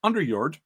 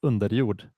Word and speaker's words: Underjord: I'm joined today by Lars Vickman of Underord. I hope I got that pronunciation right Lars although I know you would pronounce it differently right away.